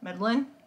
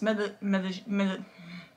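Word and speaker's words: Medellín: I'm going to say it like a total white girl, Medlin. But it's Medellin.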